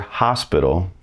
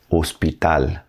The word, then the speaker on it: hospital: H doesn't have any sound in Spanish. It is silent. So, when you see the word hospital in English and you